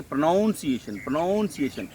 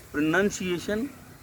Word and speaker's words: pronunciation: They say pronunciation. There is no such word as pronunciation. Pronounce is verb. Pronounced is past tense verb. Pronounced is again past participle. Pronunciation is not there. It is pronunciation, which is a noun.